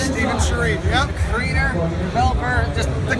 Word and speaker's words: Steven Sharif: Is that how you pronounce it? Steven Sharif, yep.